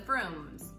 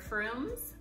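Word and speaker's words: Frome: and then our favorite froome's bishops broom and canon Froome and there's also castle fur right so if you see those words that's how you say the prunes have an O sound and then the combs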